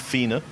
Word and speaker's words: Fiene: It's pronounced Fiene, and I would not have got that.